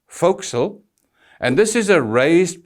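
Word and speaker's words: forecastle: and please note it's spelt for castle but pronounced foxel and this is a raised part on the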